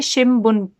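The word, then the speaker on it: 新聞: जाएगी अगर आप इस रूल के हिसाब से प्रोनाउंस करेंगे, तो इसे शिमबुन पढ़ेंगे।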